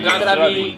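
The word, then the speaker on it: Na zdraví: Nastravi. The Nastravi. emphasis is always on the first syllable.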